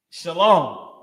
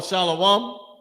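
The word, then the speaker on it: שלום: you know is is shalom. What they call shalawam. Shalom. The correct way to say it. That's what you'll have. Everybody saying it now. Shalawam. And they saying it wrong.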